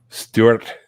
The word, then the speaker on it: Stuart: to saying my name Stuart pronounced you are not Stewart you are not Stewart not Stuart Stuart oh yeah Stuart gotta roll the r a little bit there the